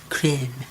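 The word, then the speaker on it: crème: It's not cream, it's creme. Maybe you just still pronounce it cream? I believe you just say it like creme. Creme. In French, you call it creme.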